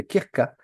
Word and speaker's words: Krka: Donc, je recommande toujours d'aller faire un tour du côté du parc national de Krka, K R K A.